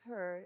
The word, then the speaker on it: Herr: To pronounce Herr is like how you guys say hair.